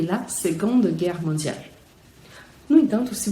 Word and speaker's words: seconde: Então a gente escreve second com C, mas com som de G, second, e seconde. Também aqui é o feminino, então não é o E que você está pronunciando no final, é o D, seconde. O C, novamente, com som de G, mas o D é bem pronunciado no feminino, enquanto que no masculino não é.